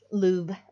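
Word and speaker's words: Louvre: It's the Lou. Lou. Okay. You You do not pronounce the R.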